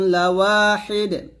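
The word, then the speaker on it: لَوَاحِدٌ: তারপর ইন্না ইলাহাকুম লাওয়াহিদ। ইন্না এখন ওয়াজিব গুণনা করবেন। ইলাহাকুম, ইন্না ইলাহাকুম লাওয়াহিদ। লাওয়া ওয়াও আলিফ জবর ওয়া পাতলা করে বলবেন, ঠোঁটগুলো হবে। ইন্না ইলাহাকুম লাওয়াহিদ।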